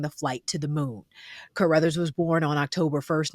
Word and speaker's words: Carruthers: Carruthers.